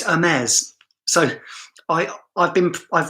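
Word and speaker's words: Hermès: that video answer hermes i say james but i know it's hermes so i i've been i've already been corrected hermes oh gosh perhaps i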